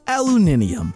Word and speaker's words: aluminium: going to say the three ways people pronounce a aluminum so that I don't get yelled at aluminum aluminium aluminum there you go now don't yell at